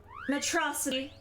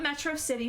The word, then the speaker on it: Metro City: Metrocity. Not Metro City, Metrocity, because we're going based on Megamind's pronunciation.